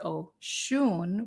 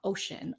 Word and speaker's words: Oshun: So Oshun is this, it's Oshun, and you pronounce it Oshun with the emphasis on the shun. It's not ocean, although it's kind of a nice.